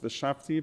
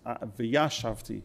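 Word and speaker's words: וישבתי: But the actual word in the Hebrew for dwell is not v'shavti, but it's v'yashavti. So you hear the difference, v'shavti, v'yashavti, one syllable difference.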